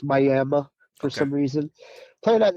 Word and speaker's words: Miami: It's spelled like Miami, but it's pronounced Miami for some reason.